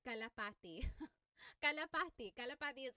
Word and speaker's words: kalapati: Local Cry said, how do you pronounce kalapati?